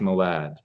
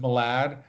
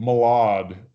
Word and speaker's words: Malad: my dad wanted me to tell you it's pronounced Malad I know it's pronounced Malad Jon Heder kept saying Molag that turn okay thank you great hello hiya